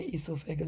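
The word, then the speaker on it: oesophagus: इसमें ओ साइलेंट है इसलिए हम इसको प्रोनाउंस करते हैं इसोफेगस. जो इंग्लिश के रूल्स है, अगर ओ की बात ई आता है तो हम ओ को फिर नहीं पढ़ते.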